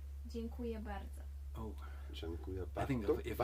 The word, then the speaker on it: Dziękuję: Dziękuję. Dziękuję. Rekuya? Dziękuję. Dziękuję. That's Dzień- true, Oh fuck. Dziękuję. Dziękuję. yeah. Dziękuję. It's beautiful. If you want to say thank you very much, it's dziękuję bardzo.